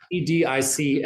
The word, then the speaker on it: Vedic: VEDIC, and pronounced Vedic.